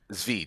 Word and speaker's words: Tzvi: Tzvi. Just pretend the T's not there.